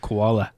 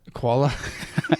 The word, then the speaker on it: Kuala: I kept pronouncing that koala. Kuala.